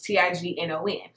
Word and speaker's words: tignon: So what black women started wearing, I believe pronounced it tions, it's Tignon.